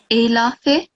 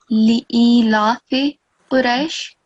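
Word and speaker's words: لإيلاف قريش: Here, you just read it Elafe, Okay. which is like the sound of Ain. Yes. You have to pronounce it like Li'ilafe Quraish.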